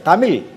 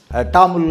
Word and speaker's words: தமிழ்: என்று சொல்லுகிறார்கள் அது வந்து என்னன்னாக்கா தமிழ் அப்படின்னு ஒரு தவறான உச்சரிப்பு தமிழ் தமிழன் தமிழனுடைய கோயில் என்று என்று சொல்லுகிறார்கள் டாமில் அப்படின்னு டெம்பிள் ஆஃப் டாமில் என்று சொல்வார்கள் மக்களே இந்த